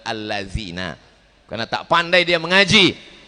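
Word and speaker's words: الذين: Alad zina katanya, padahal allazina, karena tak pandai dia mengaji.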